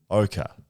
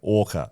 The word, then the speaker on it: ochre: ochre i was saying orca last week when discussing the best worst jumper in the comp which is the west coast ochre jumper yeah now it's pronounced like the tree not the whale and i was pronouncing